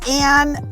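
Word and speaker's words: Ayn: what's your middle name my middle name is anne um but if you read it you'll think it's i my mom named me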